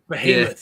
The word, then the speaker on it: Behemoth: Behemoth. Yeah, that's how you say it. However you pronounce it, okay?